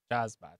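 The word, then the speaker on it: Shazbot: Shazbat. Shazbat. And then he'd shake hands like this. You'd split fingers like, well, that could be our secret shake, Ryan. Shazbat.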